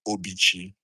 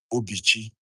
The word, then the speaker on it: Obichi: tried to explain the meaning of the name Obichi. That's how it is pronounced, Obichi, Obichi. Not some people call me Obichi, some people call Obichi, but the right way to pronounce it, according